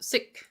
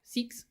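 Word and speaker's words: Sikh: time around sh says seek is pronounced siik siik I think it's a little bit longer right seek okay seeks right so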